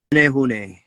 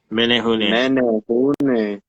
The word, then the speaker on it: Menehune: Menehune. Menehune.